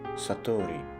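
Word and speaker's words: 悟り: character for awakening, which is known by the Japanese pronunciation Satori.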